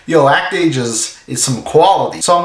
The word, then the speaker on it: Act-Age: That series is, of course, Act Age. I know it's pronounced Actage.